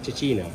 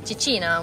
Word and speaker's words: cecina: Cicina. Cicina, which is the chickpea flour pizza that it's famous, known in Lucca.